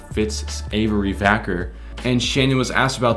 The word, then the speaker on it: Vacker: So we all know that like Ritz Savory Cracker sounds identical. It rhymes with Fitz Vacker.